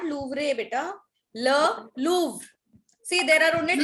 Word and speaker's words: Le Louvre: Just write down all the pronunciations. Le Louvre for the last time. Le Louvre. Done? Show me a thumbs up. Ma'am, Le Louvre. Yes, Le Louvre.